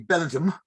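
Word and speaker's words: Castlebellingham: You have Castle Bellingham in Louth, which is actually Belgium.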